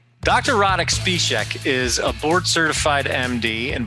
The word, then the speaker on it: Špíšek: Špíšek, I'm sure I'm butchering your name, but thank you for joining me and welcome to the show.